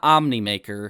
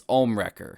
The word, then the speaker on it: Ohmwrecker: you mispronouncing the names it's not omnimaker it's ohmwrecker i've heard you say